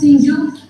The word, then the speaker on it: Singju: favorite MEK meat curry Shinu Shu or pronounced as singju is a dish from